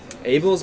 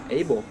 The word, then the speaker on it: Abel: Abel's been rocking that mustache with the red suit for a hot minute now. Who? Abel.